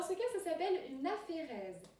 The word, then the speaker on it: aphérèse: Dans ce cas, ça s'appelle une aphérèse. Aphérèse qui s'écrit A-P-H-E-R-E-S-E.